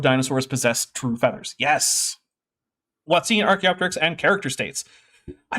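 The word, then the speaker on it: hoatzin: But they always say it wrong, though. They always call it the Hawatsin. The Watson, yeah. No, I've yet to hear a young Earth creationist say Watsine.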